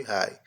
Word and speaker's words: hi: O H com som de R, o I com o som de ri. São muitas as palavras em que a letrinha i tem o som de ai, inclusive no alfabeto.